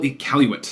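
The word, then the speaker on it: Iqaluit: none of its capital ecaluit that's how you pronounce it none of it right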